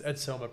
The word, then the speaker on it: Edsoma: It's Edsoma, pronounced that right?